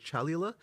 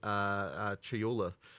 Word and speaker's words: Chayula: So the acolyte of, and I always get this name wrong. The acolyte of is it Chalula? Chayula.